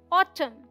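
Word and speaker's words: autumn: ऋतु का नाम लेकिन इसे हम ऑटम नहीं पढ़ते यहां एन साइलेंट है ये है ऑटम और ये तलवार की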